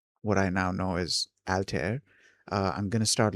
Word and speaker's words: Altair: It's generally pronounced alter uh rhyming with hair and stare. Uh the first syllable sounds like the al in album or alpha.